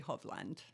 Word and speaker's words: Hovland: And then the Norwegian pronunciation would be Hovland.